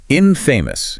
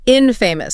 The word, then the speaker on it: infamous: And the transcript reminds us about pronunciation stress on the first syllable. Infamous. Correct. Infamous.